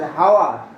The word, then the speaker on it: hour: We never pronounce it as hour.